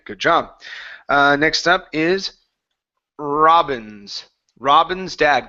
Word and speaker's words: Robin's: Next up is Robin's. Robin's dad. Give me a good R sound at the beginning instead of saying Wobbins, Robins with an R.